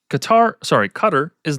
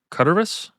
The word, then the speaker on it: Qataris: I guess you pronounce that because it's Qatar. Qataris? That's weird. Qataris, and then recruited them, promising safety from